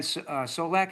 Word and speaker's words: Solak: I think somebody, Ben Solak, is that how you say his name? Yes.